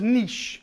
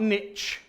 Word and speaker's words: niche: Americans in the room it's pronounced niche like quiche not niche so she asks for